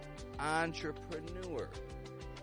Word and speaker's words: entrepreneur: cow Tow and finally words adapted from the French language spelled with e n entrepreneur Onre oncore on Route take action on the